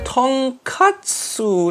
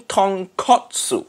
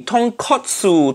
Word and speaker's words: tonkotsu: ramen tonkatsu nephew Nick I think you mean tonkotsu in Japanese ramen makes sense it pop bone Ramen but katsu mean katsu mean fried piece of pork that completely different thing say it properly tonkotsu tonkotsu I've already